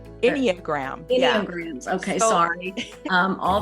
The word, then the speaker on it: Enneagram: I will definitely put in my episode notes and on social media, your website, and also I never can pronounce that word right, anagrams. Enneagram.